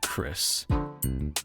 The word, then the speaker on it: Chrys: So it's pronounced like Chris, but you spell it like chrysanthemum.